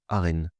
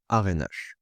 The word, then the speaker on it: ARENH: régulé au nucléaire historique ou aren ou encore ce que d'aquun prononceront arnh.